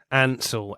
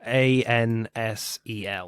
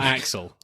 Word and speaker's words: Ansel: you say Hansel or actually say his name again Ansel a-n-s-e-l Ansel so not not Axel Ansel no it would be